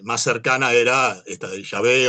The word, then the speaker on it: Yahvé: Eh, el nombre de Jehová surge precisamente por la mala traducción. O sea, hay mucha gente que no aceptaba que este Yahvé era la verdadera pronunciación de esas cuatro consonantes.